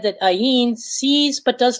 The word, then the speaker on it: ayin: it as half empty like the letter in elf elif it's a silent letter it is said that ayin sees but does not